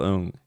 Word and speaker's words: Ng: Nigel owned em and I GTL NJ Ong pronounced own locked that in have that as your stock pronunciation and if someone corrects